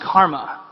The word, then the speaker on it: CCRMA: That's spelled CCRMA, and it's pronounced Karma.